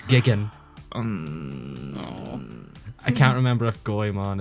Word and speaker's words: Jigen: missed you also missed out on the dub mispronouncing Jan's name it's Gigan I can't remember if goon is mispronounced and